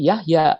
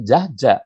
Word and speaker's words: Jahja: perkembangan ejaan Yahya ini dulu saya diberi nama Yahya Nah itu dibacanya semacam ini Yahya kalau sekarang orang membacanya semacam ini tapi kalau sekarang Nama saya yang semacam ini dibaca oleh anak-anak muda pasti Jaja bukan Yahya pasti Jaja dan ini kalau dalam